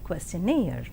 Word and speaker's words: questionnaire: And now the words stress, the words ending with suffix ee, eer and air are stressed on the the syllable itself, that is payee, addressee, employee, absentee. And engineer, volunteer, career, mountaineer, millionaire and questionnaire. And let us see accent in the compound words.